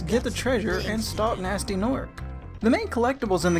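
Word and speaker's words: Gnasty Gnorc: The main villain of the game, Nasty Nork, spelled with a G, has stolen all the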